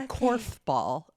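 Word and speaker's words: korfball: the next event uh corf ball ball hang on we'll cut this out aaron has something in her throat literally it starts with a k it's k-o-r-f it's spelled k-orf ball it's what the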